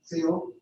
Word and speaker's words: Teal: Is it pronounced or Teal? Teal, like the color teal.